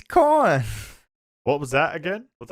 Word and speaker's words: Khorne: Khorne.